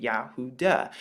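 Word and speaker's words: יהודה: you see something different you see the duh here the does sound because this letter right here makes the dalit is the dalit and it makes the dust sound and this is how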